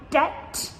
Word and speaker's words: debt: There's a lot of silent B's as well. For example, in the word like debt or doubt, both of these have silent B letters.